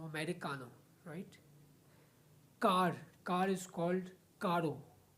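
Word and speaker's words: carro: आर आई सी ए एन O America right कार is called कारो कारो the spelling of कारो इज़ सी A double R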